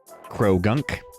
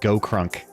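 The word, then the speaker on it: Croagunk: Krogunk. I always want to pronounce it Go-Krunk.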